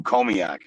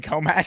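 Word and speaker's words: Commack: And then my second question to you is, how far are you from Comiac? Comiac? Yeah. Is that how you pronounce it? Comac or Comiac? Do you mean Comac?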